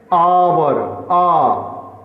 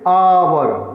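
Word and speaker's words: hour: फिर देखिए आवर, एच ओ यू आर, इसको क्या पढ़ेंगे? आवर, आ स्पष्ट सुनाई देता है, तो पहला अक्षर हमको सुनाई दे रहा है आ, इसलिए एन लगेगा।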